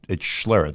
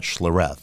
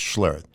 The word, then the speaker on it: Schlereth: And I go, well, it's Schlereth. It's not Schlereth. It's Schlereth.